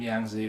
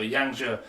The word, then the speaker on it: Yang Zhe: And this week, well, the thing with Yang Zhe, and I've always called him Yang Zi, but I've been told that I need to get my pronunciations better. So Yang Zhe, the thing about him